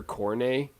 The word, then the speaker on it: Cornet: they have this player coronae it's spelled cornet he's really good they